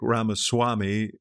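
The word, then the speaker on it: Ramaswamy: this will maybe Trump's agent uh uh Vic ramaswami which is the correct pronunciation uh will uh take this matter up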